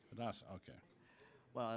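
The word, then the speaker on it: Hidatsa: Roger Whiteowl, Intergovernmental Affairs Liaison, Mandan Adaska. I'll take it from there. You're recognized. It's pronounced Hidadza there, sir. Hidadza, okay.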